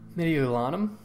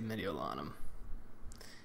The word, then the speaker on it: Mediolanum: But that is how they pronounce this province or this town, Mediolanum. So I'm going to say Mediolanum.